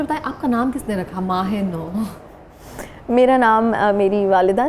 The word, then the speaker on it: Mah-e-Nau: मेरा नाम कहीं भी सही नहीं लेते कोई तो मतलब सही नाम